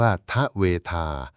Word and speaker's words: ทเวธา: สูตร นี้ โดย ตรง คำ ว่า ทเวทา อ่าน ว่า ทเวทา แปล ว่า 2 2